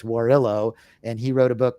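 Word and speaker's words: Warrillow: interesting though and it's w-a-r-r-i-l-l-o-w john warrillo i think i pronounced it wrong it's warillo and he wrote a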